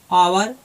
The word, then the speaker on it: hour: तो यहाँ देखिए, इसको हम लिखते हैं, जैसे कि हो गया आवर, HOUR है तो H से स्टार्ट, लेकिन इसको हम लिखेंगे आवर।